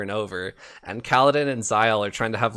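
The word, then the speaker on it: Zahel: that i i always think like my first thought was like kyle with a z but like there's no way that right that it would be spelt like that but um yeah they they pronounced him zile in the in the audiobook so but he seems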